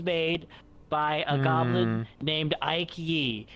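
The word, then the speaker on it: Aike Yee: Like Ike, but you want to be fancy with it, so you put another letter on.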